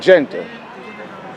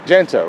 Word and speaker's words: Jegna: Now you said Jegna. Jegna, right?